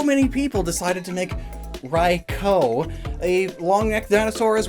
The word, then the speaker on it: Raikou: like boy oh boy I still can't pronounce Raikou rikal pronounce Rye ryko ryko yeah that makes sense but gosh they took